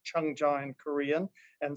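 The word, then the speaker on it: 청자: same two characters used in korean and japanese pronounced chung-ja in korean and seiji in japanese in in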